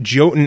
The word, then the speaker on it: Jotun: So I say Jotun because I just don't want people searching Y-O-T-U-N on Google and Steam and stores and stuff. So okay, we'll go Jotun then. Myself, I'm already butchering the Old Norse heritage.